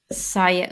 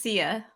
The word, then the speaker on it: Siya: SIYA. Oh, there it is. It's no, it's not. It is it? No, it's not. Okay, quit messing around. I almost felt bad. It's SIYA.